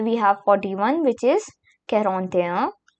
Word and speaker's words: quarante-et-un: Here we have the first number of our video, that is 41, which is quarante-et-un. quarante-et-un Do remember that I'll be pronouncing the French pronunciations two times so that it would be much more clear for you.